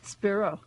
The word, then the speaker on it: Spiro: Spiro.